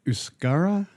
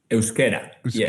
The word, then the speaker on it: Euskera: Is it Euskara? Euskera. Yes. Okay. Yeah. Euskera. So actually, Basque Country, right, is the country of the Basque, and Basque is the direct translation from Euskera, let's say.